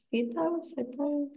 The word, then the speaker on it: fatal: Something noxious is harmful and could be even fatal. Fatal. La A la pronunciamos como se pronuncia en inglés, A, fatal.